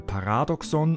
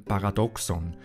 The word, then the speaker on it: Paradoxon: große paradoxen sachsen sachsen das wort dass charles krüger partout nicht richtig aussprechen möchte kommt aus dem griechischen und daher liegt die betonung auf dem 2 er spricht also von einem paradoxon und nicht einem paradoxon den fehler machen aber